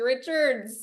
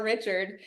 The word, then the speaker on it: Richard: off can I say thank you for saying my name correctly everyone is like Ashley Richards and they add like seven s's at the end sometimes people say Richard sin I'm like oh did we just add a whole extra ending